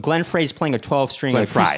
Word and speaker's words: Glenn Frey: Glenn Fry. It's Glenn Fry. That's how Oh, is that how you pronounce it?